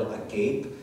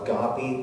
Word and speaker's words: agape: with short transliteration which looks like the word a gape and many people pronounce it uh agape but the greek pronunciation is agape and it